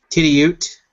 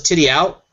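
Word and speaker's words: Tidioute: Titty Ute. That's how you say it. I thought it was Titty Out, but Mike Latham over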